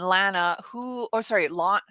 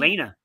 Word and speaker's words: Lena: Okay, why don't you join us here on Saturday when we have Ira and Lana, how do you say her name? Lena. Lena.